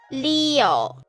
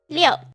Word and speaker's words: 六: So, 六 Leo, Leo. For example, if you have Spanish friends, a lot of their names are Leo, Leonardo, right? Leo. If you say Leo, and you say a bit faster, Leo.